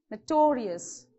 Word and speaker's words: notorious: many syllables you have so from the end second syllable so where you have to stress notorious here delicious so this should pronounce normal and you have to stress on this okay so from end the second syllable delicious notorious okay this is how you have to pronounce correct vocabulary finally the